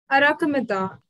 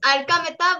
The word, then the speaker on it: Arkamita: Arakamita. I am sorry if I pronounced your name. Ma'am, it's Arkamita, but it's fine, ma'am.